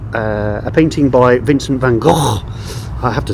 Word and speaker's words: Gogh: painting by Vincent van Gogh. I have to say that because Billy's sitting over there and he'll shoot me if I don't pronounce Gogh. Like you've got something stuck in your throat.